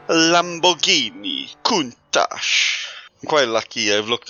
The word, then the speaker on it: Countach: Yep, I've absolutely gone and baptized that pronunciation as well. What should it be like? Lamborghini Countach.